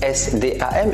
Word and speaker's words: SDAM: SDAM, qui s'écrit S-D-A-M et qui se prononce SDAM, qui en arabe signifie marcher, mais marcher d'un pas ferme, c'est l'expression favorite de mon père.